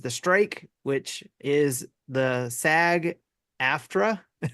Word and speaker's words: SAG-AFTRA: strike which is the SAG Afra s a g a f t r a video game uh voice I don't know what it means but yeah that's what how it's pronounced performance actors are going